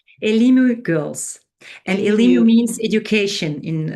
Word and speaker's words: Elimu: Um you So the the nonprofit is that pronounced Elmu Elmu Girls. Elimu Girls.